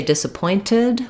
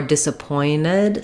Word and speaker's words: disappointed: word uh disappointed so in the word disappointed we stress on the point syllable um and I can either say disappointed with a t like with wanted or disappointed sometimes people will drop that t um I'll show you